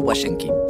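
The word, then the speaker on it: Łazienki: historia esto este es el palacio guay en king se pronuncia así porque el aire está suena como una doble vez se encuentra en el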